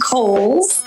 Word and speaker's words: Coles: It is pronounced Coles. George Cole was an early land owner developer out in the East County area. So Coles Mountain, like the department store.